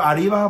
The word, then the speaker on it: arriba: Roll your R, so you like really you're Arriba, but you'll say you're Arriba. Arriba.